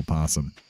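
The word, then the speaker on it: opossum: that's how it's spelled spelled with an o in the front o posum just like a silent o at least everyone I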